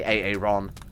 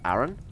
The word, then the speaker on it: Aaron: there in time goodbye ay-ay-ron right ignore excuse me streamer it's pronounced uh Aaron yeah I'm well aware thank you but hey Ron sounds a bit more Star Wars huh oh my god